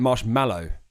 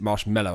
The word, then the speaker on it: Marshmello: Marshmello, we say it marshmallow here in the UK. He pronounced it marshmallow.